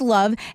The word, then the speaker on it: LOVB: That's LOVB, pronounced love.